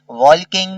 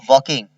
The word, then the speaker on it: walking: WOWALKING वॉकिंग, वॉल्किंग नहीं वॉकिंग, ठीक है। एल और के जो है, एल जो है वो साइलेंट है, ये वाला एल।